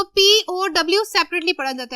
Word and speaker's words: POW: कैसे, examples, POW, इसको आप POW अलग-अलग ही पढ़ेंगे क्योंकि आप इसको पो नहीं पढ़ सकते, दैट विल बी रॉन्ग। हम इसको पढ़ेंगे प्रिजनर्स ऑफ वॉर, तो POW सेपरेटली पढ़ा जाता है, POW।